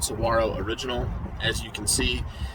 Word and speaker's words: Saguaro: Where I'm from, that's pronounced Saguaro, but I've heard other people say Saguaro.